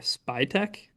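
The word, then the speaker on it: Spytek: Spy Techch. Just a guy's name. How you pronounce his name?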